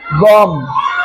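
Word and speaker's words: bomb: को हम पढ़ेंगे नहीं बी साइलेंट रहेगा उसका उच्चारण नहीं आएगा उसका आवाज नहीं आएगा सीओ एम बी कम बी ओ एम बी बम प एच य एम बी हम डी य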